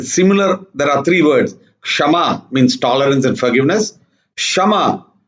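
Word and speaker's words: शम: control of the mind it's called shama not shama shama and means equal so these have to be carefully pronounced otherwise the meanings can change means to tolerate and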